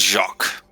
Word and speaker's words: Jacques: You keep calling Jack like some French Jack or Jacques. Well, what is correct? Is it Jack or is it Jacques? It is Jacques.